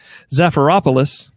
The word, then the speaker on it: Zafiropoulos: Zafiropoulos.